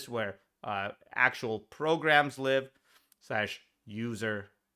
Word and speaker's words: usr: /user, USR is often pronounced user, even though it is not user, the word, it's USR. /user /lib is where libraries, resources that those programs use live, etc., etc., etc.